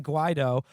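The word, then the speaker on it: Guaidó: The drive to replace Maduro with National Assembly leader Juan, how do you pronounce his name again? Juan Guaido, which has been the Trump administration's most robust foreign policy initiative after the attempt to disarm North Korea, has stalled.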